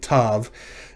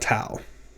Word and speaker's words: tav: throughout this lecture series i refer to these as vav and tav not wow and tau which two letters are